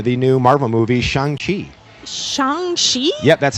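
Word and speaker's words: Shang-Chi: the new uh the new marvel movie shanghai shangshi yep that's how it's actually pronounced i used to think it was shang chi but it's okay and it was really good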